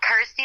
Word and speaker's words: Kirsty: And of course, obviously it helps that it's, rhymes with my name and helps people pronounce my name correctly. Right. So I'm like, cool, Kirsty like thirsty.